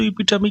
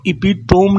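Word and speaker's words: epitome: पहली बात इस वर्ड को एपिटोम ना प्रोनाउंस करना। 99% लोग इसको एपिटोम बोलते हैं। आपको बहुत सावधान रहना है। ये एपिटोम नहीं है। यह एपिटमी है।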